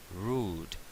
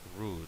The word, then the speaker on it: rude: Rude, grosero. Recordemos que las palabras que terminan en E en inglés no se suelen pronunciar la E. Rude, grosero.